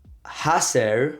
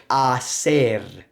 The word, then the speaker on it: hacer: It's not hacer or acer, but it's hacer.